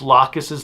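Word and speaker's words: Lacus: upset because they pronounced laus's name laus which is how it's pronounced in Japanese some people were thrown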